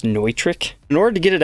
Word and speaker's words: Neutrik: locking output Jack so it looks like it says new trick but no it's actually pronounced neutrik in order to get